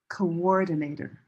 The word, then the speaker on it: coordinator: Coordinator. This W helps divide the syllables so it's easier to understand. So this word that has an invisible sound is orange door coordinator.